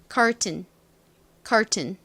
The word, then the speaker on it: curtain: tain이라고 발음이 되는데 반면에 TAIN에 강세가 오지 않는 경우에는 이 부분에 힘이 싹 빠지면서 이 AI의 A 발음이 탈락이 되게 됩니다. 그래서 TN의 발음인 튼 이렇게 소리가 나요. 그래서 이 단어를 발음해 보면 curtain 이렇게 발음이 됩니다.